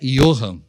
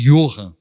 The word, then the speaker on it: Johann: Como é que vou explicar para uma criança que o nome dela pronuncia I, mas se escreve com J?